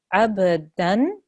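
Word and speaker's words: عَبْدًا: Abadan. And because the next letter is a alif, we don't make the gunna sound, we make a really clear noon sound there.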